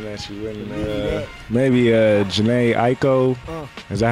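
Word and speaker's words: Jhené Aiko: to find something that you wouldn't maybe uh Jana Aiko is that how you say her name yeah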